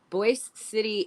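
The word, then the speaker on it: Boise City: the opposite way you're calling it boy city boy City and Boise like Boise like everybody pronounces it Boyce there they corrected me Boise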